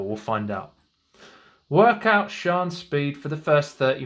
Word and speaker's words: Sian: Different pronunciations of that name. We're going to go with Sian.